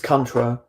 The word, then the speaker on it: Contra: It's Contra. Contra. Okay, I've been saying it wrong. Yeah. Like country.